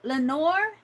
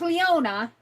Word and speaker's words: Leona: Is it Lenor? No. Are you talking about my name? Um, it's Leona.